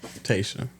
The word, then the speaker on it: Tayshaw: The W is silent. Tesa.